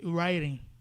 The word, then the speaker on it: writing: você vai ver que eles falam algo mais próximo de writing, né? writing. Primeiro R é esse R característico forçado, ra, tipo drive. O T acaba parecendo um som de R, mas aquele R que você não força muito, né?